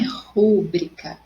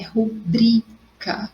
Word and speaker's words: rubrica: Então, não é rúbrica, é rubrica, ok? Sem acento.